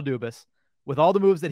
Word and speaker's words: Dubas: from Fenway Sports Group I was getting worried that I was pronouncing that wrong for the past seven years but as far as we know it's Kyle dubis with all the moves